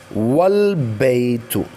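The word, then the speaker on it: والبيت: The a of al is not pronounced if it is preceded by an other word.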